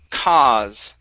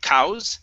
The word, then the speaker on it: cause: Next up is the word cause. Instead of cows, cow, it's only an ah there in the middle.